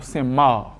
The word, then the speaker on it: Saint-Marc: Si nous prenons par exemple nom ville Saint-Marc, actuellement ville là, Saint-Marc, nous avons tendance à enlever C pour nous joindre prononciation Saint-Marc.